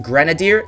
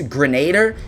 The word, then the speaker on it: Grenadier: By the way, the word Grenadier, this weapon right here, guys, it's pronounced Grenadier. So many people are thinking it's Grenader.